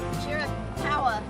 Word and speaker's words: Chiricahua: Okay, girls, who can pronounce this national monument? Chiricahua.